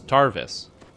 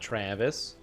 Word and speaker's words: Tarvis: is great this Travis it's tarvis not Travis it's tarvis maybe it's